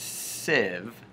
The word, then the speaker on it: sieve: to point out that sieve is pronounced sieve like this sieve rhymes with give an era toss so